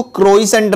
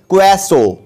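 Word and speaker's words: croissant: Guys इसकी pronunciation याद रखना, इसको क्रोइसेंट नहीं बोलते हैं, इसको बोलते हैं क्वेसो।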